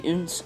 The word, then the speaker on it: OonZ: here anyways this is a review of the uns angle and yeah that's how you say it